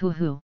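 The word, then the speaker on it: hō-ō: their Immortal bird species a ho ho pronounced whooo normally the things don't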